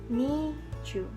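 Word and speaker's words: 二十: Angka 12 itu kan 10 ditambah 2. Nah, bacanya chu ni. Nah, kalau untuk angka 20 kita sebutkan sesuai dengan penyebutan dalam bahasa Indonesia, yaitu 20. Berarti kita baca ni chu.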